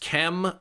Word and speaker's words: Chem: It's pronounced Chem. Do you think I'm blind? CH. That makes a ch sound. You're Chem.